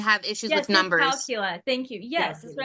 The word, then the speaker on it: dyscalculia: I Dyscalculia. thought it was Yeah, dysgraphia or dyscalculia. I mean, it's dyscalculia. when you have issues Yes, with numbers. dyscalculia.